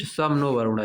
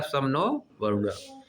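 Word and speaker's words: शं नो वरुणः: Pronounced सम नो वरुणा। जिसको क्या pronounce किया जाता है? सम नो वरुणा।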